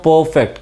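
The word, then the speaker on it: perfect: अभी परफेक्ट को भी मैं पहले सिलेबल पे जोर दे रहा हूँ, परफेक्ट, क्योंकि ये एडजेक्टिव है यहाँ पे।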